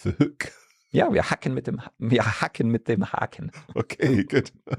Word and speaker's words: hacken: If you think about the verb hacken, for example, to chop is H-A-C-K-E-N, and that's why we have the short hacken. And it's not haken.